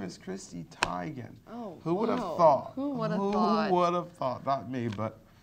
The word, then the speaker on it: Teigen: by a video giving the world the correct pronunciation take a look told you it's Tiger see I've been thinking is Chrissy Teigen its tiger her name is Christie Tigan Oh what about me but she let us